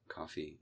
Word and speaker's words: Ko-fi: But the thing is, I posted Arbot on these different platforms, on Patreon, on Ko-Fi, or Coffee it's pronounced, I guess, with this image.